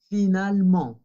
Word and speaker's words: finalement: Cuando nuestra palabra no sea un verbo, no sea la conjugación en il u el, ahí sí se pronuncia ent y va a ser una nasal. Finalement, heureusement.